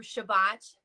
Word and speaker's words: Shabbat: So the Sabbath, or in Hebrew Shabbat, or in Yiddish Shabbos, which is also Hebrew if you're pronouncing it in the Ashkenazi pronunciation, Shabbos.